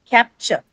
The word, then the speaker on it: capture: Or something like capture, okay? CAPTURE, that one, right? So it's not capture, it's capture, right?